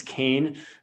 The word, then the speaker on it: Keane: It's not Keane, it's Kane.